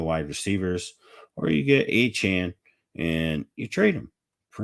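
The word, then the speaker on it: Achane: of the question was the answer before uh a Chan for whatever reason defying the laws of English pronunciation A Chan um I'd go after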